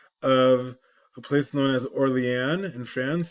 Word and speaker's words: Orléans: Right, in English or French, it's spelled this way. That's Orléans. In Tosfot, sometimes you'll see somebody known as Ri, Rabbeinu Yosef, or looks like Orleanish or something like that. But again, it's Orléans in French.